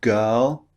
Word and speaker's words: girl: The R in girl is not pronounced.